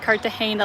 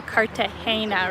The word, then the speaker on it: Cartagena: Your video inspired me to visit Cartagena last week. That is fantastic. I'm very glad. And see, guys, I'm saying it correctly now. Cartagena, right? Not Cartagena, as I unfortunately was calling it in the video.